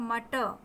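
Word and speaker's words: matter: सामान्यतः लास्ट में यदि आर आता है तो उसका प्रोनाउंसिएशन नहीं होता है, तो इसका सही प्रोनाउंसिएशन होगा मटर. रा आपके मुंह में ही रह जाएगा, मटर.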